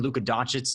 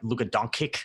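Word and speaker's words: Luka Dončić: know it like that i think they was pronouncing luka doncic's name like look at donkey or something like that and everyone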